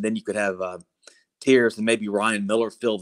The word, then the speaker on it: Tears: uh coveris tears it's his last name is pronounced tears but it's spelled tears t-e-a-r-s in from what